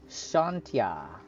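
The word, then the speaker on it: Chauntea: believe that the island Bears the blessing of Shanta a faerunian goddess of life and Bounty known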